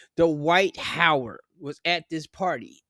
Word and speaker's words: Dwight: Okay, he's there, and I think I made a mistake on pronouncing his first name, because I don't think it's Dwight. Not Dwayne. Dwight Howard was at this party in the pink dress.